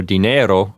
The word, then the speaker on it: dinero: And as a reminder for pronunciation, dinero just ends on an O, just a dry, short O sound. Dinero, as opposed to dinero. And the accent is going to be on the E sound, on the second syllable.